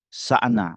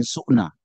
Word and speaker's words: Sa'na: kita ulang-ulang Zaid bin sa'na ada yang bacanya Zaid bin su'na ya kita ambil Zaid bin sa Dia ahli agama